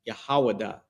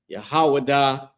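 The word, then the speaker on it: יהודה: And that name in Hebrew is it's pronounced Yahawadah. Yahawadah.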